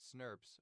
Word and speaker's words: snRNP: SNRNPs or small nuclear ribbon proteins pronounced snurps or RNA protein complexes that combine with unmodified PMRNA and various other proteins to form a splyio.